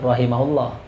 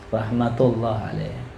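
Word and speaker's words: رحمة الله عليه: al-Basri, pada Hasan al-Basri, rahmatullahi alaih, semoga rahmat Allah senantiasa tercurah padanya, bukan rahimahullah ya Halim, rahmatullah alaih. Ya, perhatiin titiknya ya. Kalau kita baca kitab, perhatiin apa? Titiknya. Di sini rahmatullah alaih.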